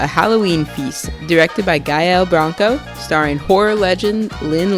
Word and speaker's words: Gael: I was, going for a French pronunciation, but I did a little more research, and Gael, I believe, is the correct pronunciation.